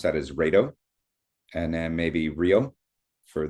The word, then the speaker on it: Raido: But, um it's basically I would pronounce that as Raido. And then maybe Rio for the um Old Norse. But, that kind of look That's almost like radio.